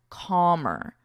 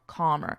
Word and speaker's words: calm: simply means to become calmer. To become calmer. Notice for pronunciation, there's no L in this word.